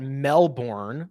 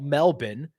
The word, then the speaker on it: Melbourne: I just wanted to let Cameron know that I know how to say it, and I wouldn't say it like a raucous American and call it Melbourne. I would never. I would call it Melbourne.